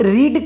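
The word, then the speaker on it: read: बाद a book और रीड का वर्ब थ्री रेड होता है रेड होता है स्पेलिंग में कोई डिफरेंस नहीं होता है बस प्रोनंसिएशन में अंतर हो जाता है उसके बाद हमें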